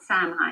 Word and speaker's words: Samhain: Samhain, spelled Samhain, Say it once, pronounced say it Samhain.